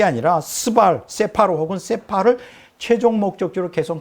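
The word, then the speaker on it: ספר: 한국말로는 스발이라 그러는데 히브리어로는 세파르라 그래요. 세파르. 이걸 갖다 세팔이라고도 간단하게 이렇게 두 글자로 할 수 있어요. 세파르 혹은 세팔.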